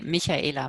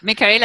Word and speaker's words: Michaela: Yeah, in Germany we say Michaela, but this is quite difficult. So Michaela is totally fine.